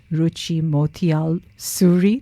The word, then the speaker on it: Ruchi Motial-Suri: linkedin so people need to look for me ruchi motiyal suri that's my surname mario why look at me